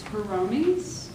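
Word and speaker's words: Hiromi: good book cloth though is a drive it's heroni it's the place everybody in the United States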